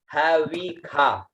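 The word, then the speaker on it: हविषा: उसके बाद में है आता है वह में छोटी ई की मात्रा, और इसको ख का उच्चारण करते हैं, आ की मात्रा लगी हुई है, तो इसका उच्चारण हुआ हवी खा, ठीक है, हवी खा।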